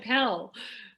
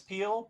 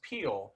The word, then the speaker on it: Pehl: the uh trivia which your last name is pronounced peel which i remember thinking i don't think that's trivia i think that's how you say your name uh-huh but it's it's spelled p-e-h-l and i i'm really